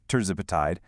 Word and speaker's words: tirzepatide: Medications like semaglutide and tirzepatide, and that's pronounced tirzepatide, they work by basically imitating that hormone.